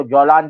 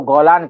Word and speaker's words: جولان: کیونکہ شام کی سرحد جو ہے، شام کا ایک علاقہ جو جولان کی پہاڑیاں ہیں، جس کو گولان کہا جاتا ہے، کیونکہ جیم کا تلفظ